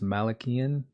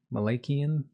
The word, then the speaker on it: Malakian: pronunciation of last name I believe it's pronounced Malakian Malakian excuse me um I